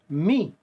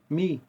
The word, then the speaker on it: mi: But in English you guys don't pronounce it R. You say Re. It's R-E. Okay? This one here, Me. Me.